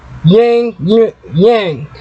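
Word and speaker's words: ylang: The herbs associated with the heart chakra are eucalyptus, lime, peppermint, rose, and yang, which is spelled Y-L-A-N-G.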